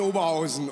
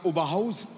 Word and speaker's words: Oberhausen: Wir waren vor 2 Tagen in Oberhausen oder wie manche sagen, Oberhausen. Ist aber eine falsche Betonung.